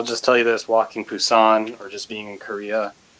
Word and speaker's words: Busan: I just joke B-U-S-A-N, Busan, but I say Busan. Busan. Because the joke is it's Busan with a B, B-U-S-A-N, but how you say it in Korean it's like a P, Busan.